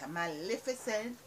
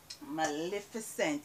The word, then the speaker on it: Maleficent: Maleficent. Some persons pronounce this Maleficent, but it's not Maleficent.